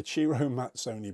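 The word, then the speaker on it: Ciro Mazzoni: For example, a Chiro Mazzoni, yes, it's pronounced Chiro, a Chiro Mazzoni baby loop looks incredible.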